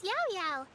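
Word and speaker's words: Yaoyao: My name is Yao Yao.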